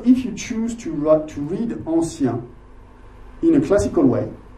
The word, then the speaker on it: ancien: But then if you read it like French is spoken, like modernist poetry is supposed to be, you're going to read it like we speak, ancien, two syllables.